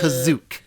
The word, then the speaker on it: Kashyyyk: Tell your nerd friends next time they bring up Kashyyyk, as they do, Yeah. from that time it's to time. technically it's Kazook. You know, in the I 1978 think you holiday mean special, Kazook. they pronounce Kazook, which is the first appearance of.